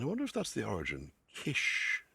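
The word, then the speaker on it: cis: Kish, C-I-S. Pronounced kish or kishon.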